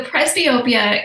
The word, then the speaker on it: presbyopia: Is that the right way to pronounce it? Yep. So presbyopia is not really, it doesn't mean nearsighted, doesn't mean farsighted.